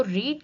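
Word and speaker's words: read: form ही आती है तो रीड की जो थर्ड फॉर्म है वो प्रोनाउन प्रोनाउंस रेड होती है लेकिन लिखी रीड ही जाती है तो यहां पर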